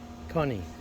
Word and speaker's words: Connie: So think of money, but replace the M with a K. How do you pronounce it? Money, but replace M with the K. Connie. That's my surname.